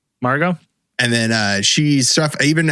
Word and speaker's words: Margot: How did you pronounce her name? Margot.